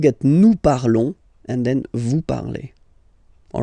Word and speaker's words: vous parlez: Vous parlez. Okay, remember a Z, when you combine them together, you get the sound E.